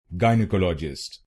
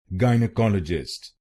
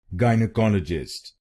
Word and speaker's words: gynecologist: Its correct pronunciation is gynecologist. gynecologist. This word has five syllables. Say the first syllable as gai.